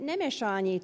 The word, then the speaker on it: Nemessany: So, yeah, I'm Nemessany, and you're probably like, what? Yeah, that's from Austria-Hungary. My parents immigrated from there, and if you are from there as well, you would pronounce it Nemessany.